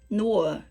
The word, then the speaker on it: nur: Nur is very much in the nose.